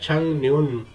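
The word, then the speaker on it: 작년: बैग ये है जी छक न्यून पिछला साल यह लफ प्रोनाउंस होता है ंग न्यून लाइजेशन रूल के हिसाब से ंग न्यून कहते हैं पिछले साल को पिछले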